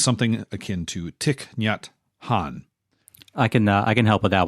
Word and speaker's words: Thich Nhat Hanh: and I apologize, but it's something akin to Thich Nhat Hanh. I can help with that one. That's Thich Nhat Hanh.